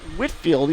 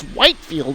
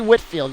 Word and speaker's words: Whitefield: for whitfield it's pronounced whitfield even though there's an e stuck between the t and the f so it looks like it's white field but it's really whitfield you just ignore that